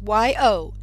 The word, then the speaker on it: Yocheved: And if my name is hard for you to spell, it's Yochev, as in very, E-D. Last name. That CH in my first name, it's pronounced the same way as in Bach, the musician.